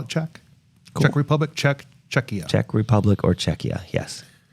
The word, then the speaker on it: Czechia: it's it's a hard C by the way czechia czechia thank you yeah I I um actually